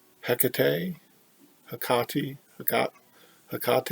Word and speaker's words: Hecate: last video I pronounced a cocktail like the beer I guess Tecate someone online said that pronunciation can be hecka tea Hecate a Conti got a